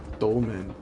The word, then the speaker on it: Dolmen: stick F Ramen soul dolman maybe DOL dolman dolman Souls Ramen Souls oh yeah he rhymes with Ramen yes the name is